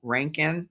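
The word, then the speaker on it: Rankine: I think I have Citizen American Lyric, Claudia Rankin. Is that how you pronounce her name?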